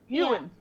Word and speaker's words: Yeoh: Michelle Yeoh. Michelle Yeoh. Ewan. That's how you say it.